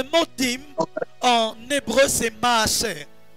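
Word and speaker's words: מעשר: Le mot dîme, en hébreu, c'est maaser. Maaser.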